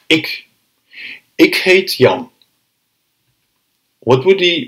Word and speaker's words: ik: First one is the I. The I. Ik. Ik. As you can see, you will hardly have to open your mouth.